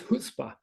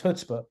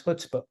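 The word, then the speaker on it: chutzpah: been to New York think of it as a stop sign in New York you can ignore it a recommendation but if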